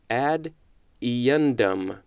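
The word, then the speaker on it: ad eundem: so it's two words ad is the first word and then e un de M is the second word add en dumb that is what the pronunciation is telling me there's also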